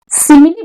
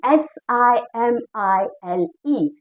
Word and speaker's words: simile: figure of speech s s i m i l e it is just like pronounced as seems like simil but it is being pronounced as simile okay simile simil is